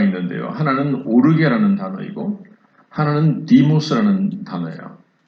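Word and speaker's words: θυμός: 하나는 오르게라는 단어이고 하나는 디모스라는 단어예요. 원래 발음은 시모스인데 발음이 중요한 건 아니고, 하나님께서 우리 인간을 향해서 진노를 하실 때에 이 두 가지의 단어를 사용해서 성경은 기록을 합니다.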